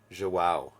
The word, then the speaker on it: João: Yeah, but it's a beautiful name, but João. Like, I would have never guessed that. I had to look up pronunciation guides for that name, and like a